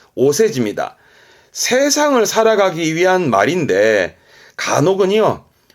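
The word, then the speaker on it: お世辞: 그래서 세사라 하면 그래서 발음이 세지. 오세지입니다.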